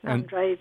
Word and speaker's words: Andrade: And am I saying your name correctly, or do I have the accent on the wrong syllable? No, that's right, Andrade.